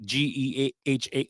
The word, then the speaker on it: GEHA: That's how they always say it's Geha, but it looks like it's GEHA Field.